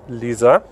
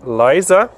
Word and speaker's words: Liza: so her name is Lisa as you can ask here in Slovenia so it spelled L I dig that a you can also pronounce it as Liza which our American friends will do but we call her